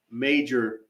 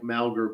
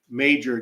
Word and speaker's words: Mauger: 1934 that's when Olga major again it looks like malgar but it's major disappeared and so of